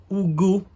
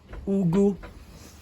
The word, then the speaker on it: ugu: few weeks ago, and I didn't pronounce the name correctly. One of my Nigerian brothers told me that's not how to say it. So this plant is called ugu. Yeah, I think you'll be happy with my pronunciation now.